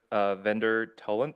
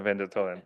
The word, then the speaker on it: Vendor Toland: Okay, CUP number 24018, and the applicant is Vendor Toland. Is that pronounced right? No, Vendor Toland.